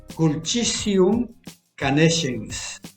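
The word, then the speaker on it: Culcitium canescens: Y su nombre científico, Culcitium conescens, pero pronunciado en latín vulgar, Culchisium canescens.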